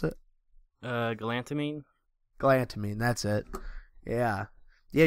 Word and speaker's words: galantamine: man's glutamine or GL gamine how do you pronounce it uh galantamine glamin that's it yeah yeah you've had a